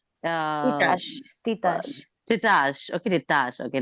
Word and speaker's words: Titash: Uh, Titash, Titash, Titash. Okay, Titash. Okay, nice, nice. Titash, Thank you. not Tita. So It's Titash.